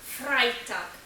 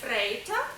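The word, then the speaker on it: Freitag: звучить німецькою мовою як фрайтакк буквосполучення е і утворює звук ай тому в жодному разі не фрейтак а фрайтак фрайтак п'ятниця щодо суботи то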